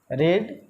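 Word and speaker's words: read: जैसे मैंने लिखा गो, वेंट, गॉन, गोइंग, गोज, एक वर्ड लिख दिया मैंने रीड, ये हो गया रीड, पढ़ते हैं रेड, फिर इसको भी पढ़ते हैं रेड, स्पेलिंग सेम होता है, नो चेंजिंग होता है, रीडिंग, रीड्स।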